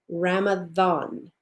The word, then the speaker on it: Ramadan: way, it's still pronounced Ramadan, as if it were a TH.